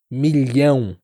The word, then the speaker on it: milhão: palavra em inglês também, como a palavra million. Milan. Esse lan, lan é parecido com o nosso LH. Li, Li. Então, milan, milhão em português.